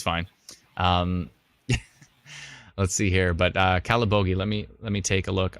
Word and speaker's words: Calabogie: By the way, I learned how to pronounce Calabogie when I pronounced it wrong during the 2018, was it 2018 tornado? I think so. I kept calling it Calaboogie, which...